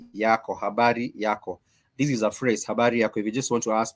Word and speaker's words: habari: a phrase habar yarak this is a phrase habar if you just want to ask people how are